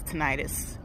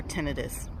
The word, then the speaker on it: tinnitus: And also, you can do natural things to help with stress relief cuz stress aggravates tinnitus or tinnitus. You can pronounce it both ways.